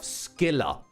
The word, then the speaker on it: Scylla: Oh yes, and we also have Skilla. Despite being spelt, you know, like Scylla.